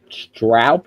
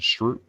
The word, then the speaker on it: Stroop: 1 week after Jackson Stroup, is that how you pronounce his name, got hurt for the year? Jackson Stroop. Yeah, Stroop. Thank you, Stroop.